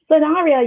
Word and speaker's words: Sanabria: and today we have the amazing host Gwen sarria is that how you pronounce it sonara yes that's it oh my god I've finally